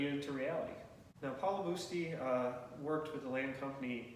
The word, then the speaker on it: Busti: The pronunciation was changed over time, but it's Paolo Busti, but Busti Ave.